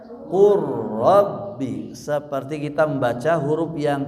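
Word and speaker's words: قل رب: Berarti bacanya asalnya qul rabbi, jadi bacanya dileburkan qur rabbi.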